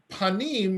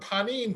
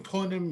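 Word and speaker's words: פנים: Now panim, right now, most of you know that, right? I mean, you might know it in the Yiddish pronunciation rather than the Hebrew punim, right? But panim, punim means face, right?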